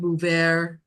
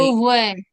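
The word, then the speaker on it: Beauvais: Monsieur Bouvert that looked for the body. Beauvoir.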